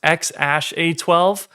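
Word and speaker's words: X Æ A-12: kids, most notably XAEA-12, which I believe is pronounced XASH-A12.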